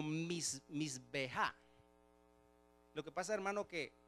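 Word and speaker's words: מזבח: Pero esa palabra se pronuncia algo así como misbeja.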